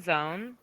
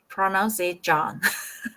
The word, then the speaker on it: zone: John Zone. John Zone. Yeah. Okay. Actually, Why? when I read zone before, I used to pronounce it John.